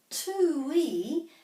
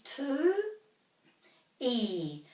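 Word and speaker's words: tūī: to notice is that two we has macrons over the u and the i so we go remembering the pronunciation of the vowels putting a break after every vowel so this is two e two e is probably something to do with the sound of the two we so when we say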